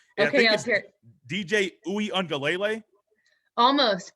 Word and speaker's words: Uiagalelei: DJ Uiagalelei. Almost. Uiagalelei.